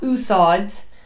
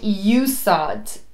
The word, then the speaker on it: úsáid: An bhfuil tú chun é a úsáid, that's how you pronounce it. It's not úsáid. Just because the English word is use, I think people then say úsáid.